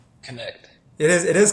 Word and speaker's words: Knecht: by the way how do how do you pronounce your last name connect it is it is connect so okay we were all talking about it